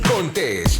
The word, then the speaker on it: Contés: Y con ustedes, Miguel Contés, con acento en la E.